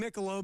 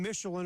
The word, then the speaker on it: Michelob: Chad Homegrren's mispronouncing Michelob. He's calling him Michelin or whatever.